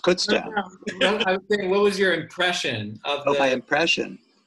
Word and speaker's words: Kutztown: let you know that kutztown is pronounced kutztown what was your impression